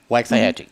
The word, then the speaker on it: Waxahachie: Waxahachie.